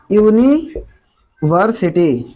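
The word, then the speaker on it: university: For example यूनिवर्सिटी, यूनिवर्सिटी, यूनिवर्सिटी हमारा शब्द जो है वोवेल से शुरू होता है, बट उच्चारण हमारा काय का निकल रहा है? य का।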